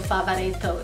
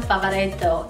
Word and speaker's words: Favaretto: It's pronounced Krasinski. Krasinski. I feel for John because Krasinski is hard to say, but also Favaretto is really hard to say too.